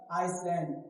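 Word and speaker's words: island: कहां साइलेंट होता है कुछ वर्ड्स में एस लिखा होता है लेकिन प्रोनाउंसिएशन में नहीं होता है प्रोनाउंस नहीं होता है मतलब साउंड एस के नहीं आता है जैसे एग्जांपल आइसलैंड क्या आइसैंड आइसलैंड इसे नहीं पढ़ना है ठीक एग्जांपल क्या लिखा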